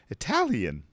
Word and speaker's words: Italian: italy italy it italy but when we use the nationality it's itat the stress is on the t italian yeah the italians i